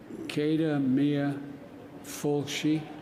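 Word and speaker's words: céad míle fáilte: I never pronounce it correctly, but it's Cada Mia, I got to remember it now. Cada Mia Fulci, is that right?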